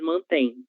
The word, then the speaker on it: mantêm: Eles mantêm, elas mantêm. A pronúncia é a mesma. A única diferença é o uso do acento gráfico para indicar o singular e para indicar o plural, ok?